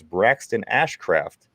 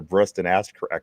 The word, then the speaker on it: Braxton Ashcraft: Again, it's Braxton Ashcraft. I have to make sure I I really pronunciate that name because he turned into Breston Assh last week.